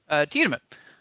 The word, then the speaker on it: Tiedemann: Is that the correct pronunciation? Tiedemann. Tiedemann. Yep.